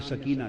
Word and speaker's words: سکینہ: جگر شہزادی سیدہ سکینہ، اصل نام ان کا عربی وزن میں سکینہ ہے، عرف عام میں سکینہ چلتا ہے، اصل لفظ سکینہ۔ سیدہ، میں عرف عام کا لفظ استعمال کروں گا، تلفظ بتا دیں، سکینہ، سیدہ سکینہ، سیدہ سکینہ۔ دھوپ میں